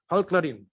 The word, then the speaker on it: Halkların: And here you see the logo of the, can you pronounce this for me? It's Halkların Demokratik Partisi. Halkların.